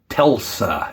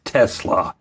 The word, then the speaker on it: Tesla: a little humiliation therapy i keep saying telsa it's tesla i know this but when